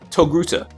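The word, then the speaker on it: Togruta: And I think Knight called her a Toa before, but that's because he can't pronounce Hey, I tried. Hey, you failed. You're a failure. Her species name is actually pronounced Toguta.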